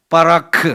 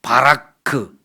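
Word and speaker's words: ברך: 빠라크라. 빠라크. 좀 약하게 발음 발음하면 바라크. 또 세게 발음하면 빠라크는데이 단어는 세게 발음을 해야 돼요.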